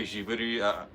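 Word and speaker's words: ジブリ: Um, we say Jiuri. There's no like hard G sound, I guess, in Japanese unless it's a G.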